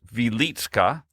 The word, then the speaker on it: Wieliczka: Near the town of, it's spelled Wieliczka, but it's pronounced Wieliczka in Poland, sits the Wieliczka salt mines, which have been worked continuously since the 13th century.